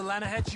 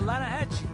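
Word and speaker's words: Lannahechee: some beautiful steelhead trout you mean the Lana no no the Lana hatch it runs right near here yeah this pronounced land a hassle why is everything in English said differently than it's written make us feel stupid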